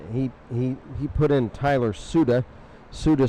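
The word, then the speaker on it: Siuda: Suda spelled S-I-U-D-A.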